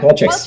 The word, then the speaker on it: Qualtrics: Nir, at Qualtrics. Yeah. Am I saying it right? Yeah, Qualtrics. Qualtrics.